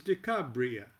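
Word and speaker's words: Decarabia: The night spirit is Decabria. I'll better pronounce that Decar Abia.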